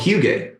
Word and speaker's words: hygge: It's called hygge.